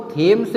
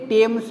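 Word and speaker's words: Thames: अभी यह जो लंदन है लंदन शहर ग्रेट ब्रिटेन का वो थेम्स नदी के किनारे है। कहीं पे टेम्स भी लिखा हुआ है। तो एक ही बात है।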